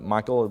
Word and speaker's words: Michal: This is the lady, Michal, trying to fancy that up. It's Michael, basically, is how it's pronounced.